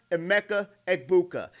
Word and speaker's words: Emeka Egbuka: Carnell Tate is going to be another Emeka Egbuka.